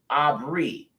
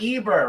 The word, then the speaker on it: Abar: From Aramaic, Shemitic, which is Abary, corresponding to Hebrew, Abary, an Israelite. Traditionally from the ancestral name Abar, not Eber. Remember, there's no E's. His name is pronounced Abar, okay?